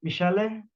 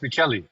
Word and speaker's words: Michele: My name is pronounced Michele, not Michelle. Michelle, I'm sorry. No, it's Michele. Michelle. No, Michele. It's Michael for it's My first name is Italian, I'm, from I'm Michael, but it's spelled like that. It's spelled Michele, and it's pronounced Michele.